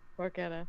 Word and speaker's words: porchetta: I did not know that porchetta was pronounced porchetta.